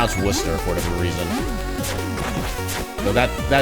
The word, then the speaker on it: Worcester: Okay, so it is Worcester. Okay. I love how words that have like 10 plus letters in them only have like 2 syllables.